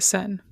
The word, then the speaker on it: Seine: How would you pronounce that river? The Sen.